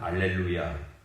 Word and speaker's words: 알렐루야: 그래서 라틴어에서는 알렐루야 이 하 발음이 없습니다. 그래서 찬송할 때도 알렐루야라고 하고요. 이 콘스탄티노플을 중심으로 하는 동방교회 여기는 이제 헬라어를 쓰는 지역들이거든요. 이쪽 지역에는 하 발음이 있죠. 그래서 할렐루야 이렇게 찬송을.